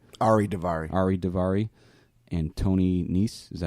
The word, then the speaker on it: Nese: Ari Daivari, and Tony Nese.